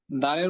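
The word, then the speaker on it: د: থাকলে এখানে করতে পারেন দালের মাখরাজ হচ্ছে জিহ্বার আগা সামনের উপরে দুই তাদের গোড়ার সঙ্গে লাগিয়ে দাল অক্ষরটি উচ্চারণ করতে হয় আচ্ছা এখানে একজন লিখেছেন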